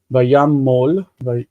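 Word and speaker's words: וַיָּמָל: Notice the O in that second sentence, second syllable, because it is, or third syllable, excuse me, the last syllable, because it's mol. Vayamol, like vayakom.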